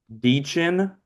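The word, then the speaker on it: Dichen: Deechin. I know that's how you say your first name.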